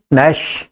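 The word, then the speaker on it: gnash: यू ठीक है ना इसमें जी आता है पर जी को silent रेक्शन जी एन ए एस एच दांत पीसना ठीक है पर इसको गणेश मत बोल देना ये गणेश जी नहीं है नश वड है जी साइलेंट ओवर राइट चलिए बंदर बच्चों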